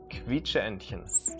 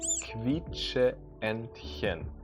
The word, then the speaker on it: Quietscheentchen: Quietscheentchen. Quietscheentchen. Quietscheentchen. Now remember, the QU is actually more pronounced like a KV sound. Quietscheentchen.